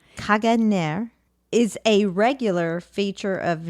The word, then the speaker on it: Caganer: Okay, how do you pronounce it again? Caganer. Caganer is a regular feature of nativity scenes here